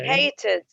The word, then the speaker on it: hated: hated. زي wanted صح ولا؟ two syllables.